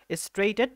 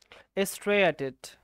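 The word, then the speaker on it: striated: অথবা একটা ইংলিশ নাম আছে, ইংলিশ নামটা পড়তে হবে স্ট্রেইনড মাসেল, স্ট্রেইটেড মাসেল। ও সরি, এটা স্ট্রেইটেড না, দুঃখিত। আমি পড়েছিলাম হচ্ছে তোমার, দাঁড়াও, এটার উচ্চারণটা আমি সঠিকভাবে বুঝতে পারতেছি না, আমি একটু ক্লিয়ার হয়ে নেই, বুঝতে পারছো?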